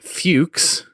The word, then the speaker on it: Fuchs: There was me, my wife, Bobby, and now that I know how to properly pronounce his name, Fuchs. It's not Fudge, it's Fuchs, believe it or not.